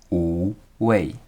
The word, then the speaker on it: Wu Wei: By the way, the pronunciation is Wu Wei.